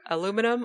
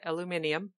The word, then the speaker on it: aluminium: tell well it's out aluminum or aluminium depending on I was going her British pronunciation and I just yeah didn't come up with it in time ok aluminium or if you're my